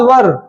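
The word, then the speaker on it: were: बोलो वाज वर, वाज वर, वाज वर। इसका उच्चारण हम लोग वेयर नहीं करेंगे, वर करेंगे।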